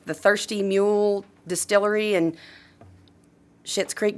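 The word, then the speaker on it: Schitt's Creek: Thirsty mule Distillery and shit's creek but it's spelled s CI TTS okay um I know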